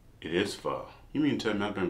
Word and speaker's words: pho: So I took the initiative to try fo again, but not only that, I'll be trying not one, two, three, but four different fos.